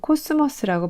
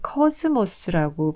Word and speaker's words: 코스모스: 우리는 보통 코스모스라고 발음하는데 사실은 커스모스라고 발음을 해야 돼서 좀 어색한데요.